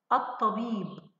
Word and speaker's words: الطبيب: هنا الطبيب أط، هل سمعت صوت اللام؟ لا بالطبع لا. هل يوجد هنا شدة؟ نعم يوجد شدة. تأكدنا الآن أنها لام، أحسنتي، لام شمسية.